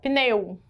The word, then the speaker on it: pneu: Nesta palavra, esse U é uma semivogal. Pneu. O som dele ficou fraquinho lá no final da palavra, tá certo?